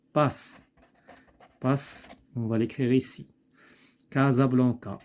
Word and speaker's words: Casablanca: Casablanca, il se prononce Z.